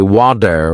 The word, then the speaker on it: water: movies I noticed that native speakers say wader with a soft D sound by listening and practicing